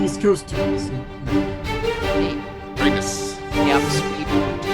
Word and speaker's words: Pramas: I should mention it's pronounced Pramas. I'm sorry. My name is pronounced Pramas.